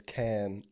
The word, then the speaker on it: Cannes: is the S silent? Yeah. Cannes, mm-hmm. Cannes Film Festival.